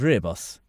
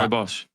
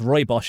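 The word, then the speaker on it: rooibos: How do you pronounce reos? Cuz I thought it was ribbos but Roy Bos Roy Bos.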